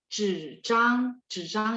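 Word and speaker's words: 纸张: Zhizhang, zhizhang itu kertas ya. Zhizhang, dua-duanya lidahnya diangkat. Zhizhang. Jadi kalau ketemu nanti Hanyu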